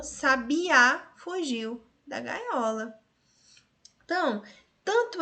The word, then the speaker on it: sabiá: A divisão silábica é dessa forma, 3 sílabas, sabi, só porque a sílaba tônica é a última, sabiá.